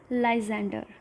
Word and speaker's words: Lysander: I know their spellings looks a bit tricky and even their pronunciation. So let's speak together. The first one is Lysander.